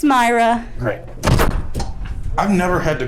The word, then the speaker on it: Mayra: theater after seeing Cruella, and I am with Mayra. Why it looks that soapy. You might have to say her name again because I too stepped on your audio. Who am I with again? It's Mayra.